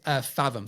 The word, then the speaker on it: Fathom: So the next one is Fathom. So let me spell it for you because my British accent.